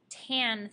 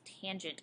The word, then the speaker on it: tangent: And again, you do not pronounce this tan theta, it is tangent of theta.